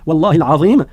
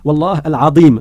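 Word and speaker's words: والله العظيم: et qu'il voulait dire Wallahi al-Azim, il convient de le prononcer correctement et de ne pas dire Wallah al-Azim. Al-Azim, ça il y a une transformation d'une lettre et ça n'est pas correct.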